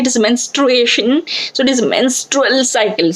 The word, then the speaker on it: menstruation: Students normally pronounce it as mensuration, जो कि maths का part है. Mensuration, it is a part of mathematics, but it is menstruation or menstrual cycle.